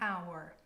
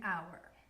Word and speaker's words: hour: at our last example we have the letter H however this letter is silent that's why we say